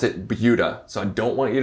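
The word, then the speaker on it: Buda: Austin suburbs right now and it is called bua do not be fooled if you don't live here it is not called Buddha you pronounce it bua so I don't want you to embarrass yourselves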